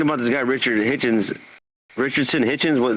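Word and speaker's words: Richardson Hitchins: this guy Richard Hitchens Richardson Hitchens that's how you say his name right uh uh rickyson hitchinson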